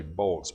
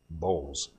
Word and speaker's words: Bowles: Now, it's tempting to say Bolts, but his name actually is pronounced Bowles.